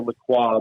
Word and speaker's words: LaCroix: i always pronounce the lacroix but they they they've americanized it and they they pronounce it with but you know i